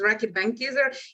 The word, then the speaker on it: Reckitt Benckiser: Yes, you pronounced it right. It was Reckitt Benckiser.